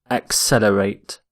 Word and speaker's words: accelerate: first word is accelerate accelerate notice the pronunciation of accelerate axe accelerate accelerate if something accelerates it